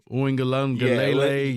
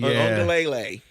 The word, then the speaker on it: Uiagalelei: DJ, I never pronounced his name correctly, but that guy. Uiagalelei. Uiagalelei.